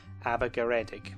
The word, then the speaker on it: Abergaredig: So we'll go with Aber Ceredig, which becomes, accounting for Welsh mutation of the hard C sound, Abergaredig.